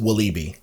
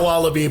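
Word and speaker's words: Walibi: openings uh internationally at is it wabby or vabby Belgium I mean I've been there a couple times I think it's right in in Belgium yeah they pronounce the W like a w so yeah but but I think it's pronounced wiby is how they oh not not wabby but wibe yeah whatever it is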